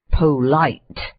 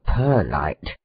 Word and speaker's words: polite: Gentlemen, however, whose profession it is to drive certain public vehicles called cabs, are much accustomed to disregard this rule, and to say polite or perlite, genteel, concern, police, and so on.